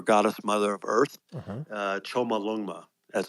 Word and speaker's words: Chomolungma: Choma Lungma. as it's called. That's how they pronounce it, Chomolungma.